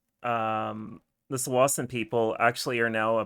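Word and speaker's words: Tsawwassen: through a municipality called Sawasan. And impressively, Web Captioner is spelling it correctly. People will say it as Tawasan, but I believe the correct pronunciation is Sawasan.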